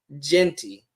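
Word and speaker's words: Jeanty: want to see if there's is jenty okay Genty Genty okay now that that now that I can pronounce it right Ashton Genty okay I know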